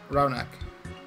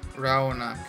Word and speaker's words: Raunak: up but I am Twitter okay it's just Raunak Raunak ra o ni k I think is gonna